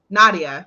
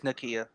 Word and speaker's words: Nakia: I think Bruno and Nadia, because I don't know how to pronounce people's names, would work out. I think they would work. Oh, her name is Nakia.